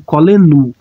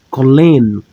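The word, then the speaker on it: קולנו: Porque se não tivesse essa seta, eu poderia pronunciar como colenu. Então, o acento tônico cairia no sufixo pronominal. Mas a seta está aqui para indicar que exatamente eu vou pronunciar como coleno.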